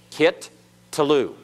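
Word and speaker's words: קִטְּלוּ: doggish doubles it so there are two tastes so it's kit talu kit to Lou everyone kit Tulu so you have a doubling dogish that means that in essence has two tastes that are pronounced and the first Tafe has as it were a silent schwa that's understood and the second Tate has as it were a vocal schwa understood in other words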